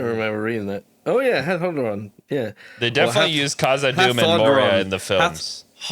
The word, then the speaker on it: Hadhodrond: Oh yeah, Hadhodrond. Yeah. They definitely use Khazad-dûm and Moria in the films. Hadhodrond is how it'd be pronounced.